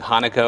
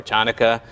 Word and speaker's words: Hanukkah: But the answer to your question, Hanukkah is actually a Hebrew word, and the first letter is a chet. We don't have that in the English language.